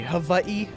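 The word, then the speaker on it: Hawaiʻi: Havi, as it's supposed to be pronounced, but like Alola was just like, "Yeah, we're Hawaii."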